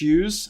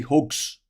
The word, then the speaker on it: Hughes: country uh basically um they couldn't pronounce my surname correctly because it's Hughes and that's a bit of an odd word to say for an African frankophone country so uh they call me hugs that's my name hugs